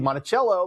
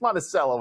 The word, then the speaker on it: Monticello: I am from Illinois, and in Illinois, we have a lot of towns that have weird pronunciations, and like Monticello, Illinois. Anywhere else would be Monticello, but hey, it's Monticello in Illinois.